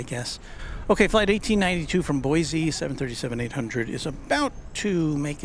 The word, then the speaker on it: Boise: Boise rhymes with Joyzy.